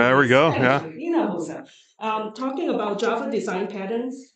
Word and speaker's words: Hinojosa: Hinojosa.